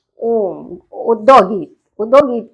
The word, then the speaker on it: ओम: बिल्कुल सीधा रखना है अपने मुंह को खोलना है जब तो हमें आ का उच्चारण निकलेगा जब हम मुंह को स्पॉट जैसा बनाएंगे जैसे कि स्पोट जैसा तो वो ओ हो जाएगा और जब हम ओठों को अपने बंद करेंगे तो वो मा हो जाएगा तो आ उ